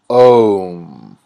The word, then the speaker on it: Om: The pronunciation of Om is a process that leads you through the whole vocal tract. You begin in the throat with Ah, then transition to the mouth with O, then move towards the front of